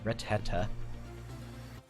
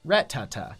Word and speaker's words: Rattata: coming out from that Retta excuse its Rhett Tata there you go that's